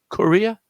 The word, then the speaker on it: courier: And in this case, the courier has three syllables, and the stress point is in the first syllable.